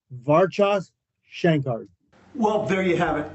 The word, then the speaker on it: Varchas: the name yeah so a lot of people have look at it and they want to say varaz all the time but it's not it's actually varas well and and I